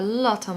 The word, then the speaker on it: lot: pronunciation tip for this make sure you pronounce the T on the end of lot because it will allow you to blend that word into the next one so a loton it